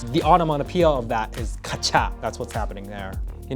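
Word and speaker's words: カチャ: Kacha, it's pronounced kacha, and you'll know that because they just spelled out how it sounded. K-A-C-H-A-K, right? Kacha.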